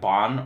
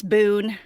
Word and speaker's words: Boon: how is it pronounced is it like bon or boon it's uh it's it's boon boon okay um the thing